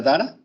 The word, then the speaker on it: Dara: ¿Y sí se pronuncia Dara? Sí, sí, así se pronuncia.